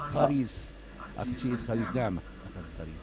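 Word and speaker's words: ⲭⲁⲣⲓⲥ: Wie wird das Gericht ausgesprochen? Das wird als Kh. Kharis.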